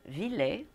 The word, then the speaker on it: Ville: We have today with us Ville. Is that good? I pronounce it well? Yeah, that's a pretty good one. You do pronounce the E. Yeah, it's like the name is a Finnish name, so yeah.